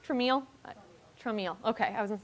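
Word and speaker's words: Traumeel: So, and is it pronounced Trameal? Trameal, okay, I was gonna say, I don't personally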